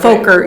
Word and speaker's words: Fokker: This is the Fokker. What was it? F-14 or something. That's why I was trying to put a long O on it just to take that away. Fokker, yeah. Fokker.